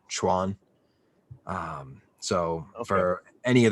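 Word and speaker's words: quan: or martial arts uh you would translate it as q-u-a-n pronounce it as like c-h-u-a-n schwann um so for any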